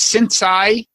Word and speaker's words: sensei: But in addition to that, you is it pronounced sensei?